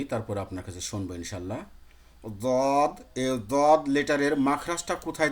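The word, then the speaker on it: ض: তাহলে ওভাবে ঠেকিয়ে যদি আমি উচ্চারণ করি, তাহলে উচ্চারণ হবে দেখেন, দদ, দদ।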